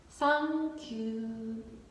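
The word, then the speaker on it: サンキュー: Just SAN-KYU, SAN-KYU, thank you. It's too difficult to say for us, TH pronunciation. So we say SAN-KYU, SAN-KYU.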